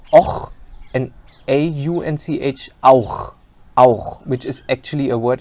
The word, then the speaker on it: auch: O and CH och, and AU and CH auch, which is actually a word in German.